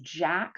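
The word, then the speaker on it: JAK: is what's called a jack one and here Jack is spelled j a k and a tick to tyk uh inhibitor so those two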